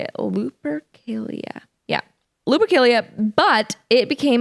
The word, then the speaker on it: Lupercalia: Valentine's Day has roots in the ancient Roman festival of, Lupercalia. I think that's how you say it. Lupercalia.